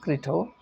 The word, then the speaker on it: Crito: So when that day arrived, his friends, particularly led by a person called Crito, Crito, Crito, pronounced Crito, visited Socrates in the prison cell.